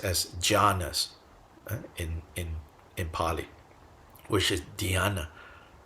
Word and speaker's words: jhanas: And in that context, shamatha is closely associated with what's pronounced as jhanas in Pali, which is dhyana in Sanskrit.